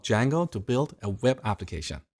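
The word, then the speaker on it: Django: D Jango so it's spelled with a silent D and it's pronounced D Jango it's a web framework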